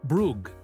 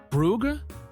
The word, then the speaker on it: Bruges: She needed to get to Bruges, but kept pronouncing it Brugge, like it rhymed with hug. The attendant kept saying Brugge with the correct pronunciation.